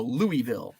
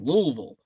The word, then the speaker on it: Louisville: do you pronounce it I'm a Yankee so I go Louisville I I sound like a like a Yankee Louisville but I've got some friends that live down there it's like the less vowels you use is the more correct pronunciation Louisville Louisville uh let's